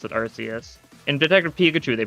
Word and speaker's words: Arceus: Arceus is pronounced, like, Arceus in, like, Japanese, but it's pronounced Arceus usually in English. It varies a little bit, but it's mainly because they don't want it to sound like arse.